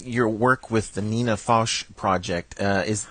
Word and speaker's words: Foch: work with the Nina fos project uh is am I pronouncing your name right fos fos yes F well uh I